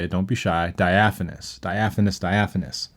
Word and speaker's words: diaphanous: fun word to say it don't be shy diaphanous diaphanous diaphanous it's a good word it's spelled di a pH a n o us